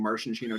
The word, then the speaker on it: maraschino: current girlfriend Rachel told me that I was mispronouncing it I was running around just saying Martian she know cherry that's how you're supposed to say it